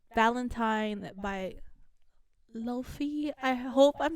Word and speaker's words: Laufey: And I love Lofi, if you know her.